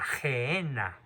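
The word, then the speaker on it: Gehena: En arameo, en el lenguaje que usaba Cristo, él la llamaba la Gehenna. Se escribe G-E-H-E-N-A, Gehenna.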